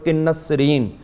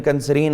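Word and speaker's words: قنسرین: اسی طرح ہم دیکھتے ہیں کہ جو بات خصوصی طور پر کنسرین، یہ اس کا اصلی تلفظ ہے لیکن کنسرین عام بولتے ہیں، اس کو جب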